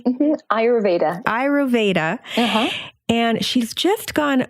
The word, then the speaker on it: Ayurveda: Am I pronouncing that correctly? Mm-hmm. Ayurveda.